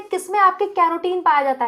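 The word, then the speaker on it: carotene: यहां पर जो ऑप्शन है, ठीक है, उसके अकॉर्डिंग, जिसमें कैरोटीन पाया जाता है, केराटिन नहीं, कैरोटीन पाया जाता है। ठीक है, थोड़ी प्रोनाउंसिएशन अपनी सही करो।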